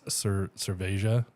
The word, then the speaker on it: cerveja: In there, it's cerveja. Like it's like more of a J sound.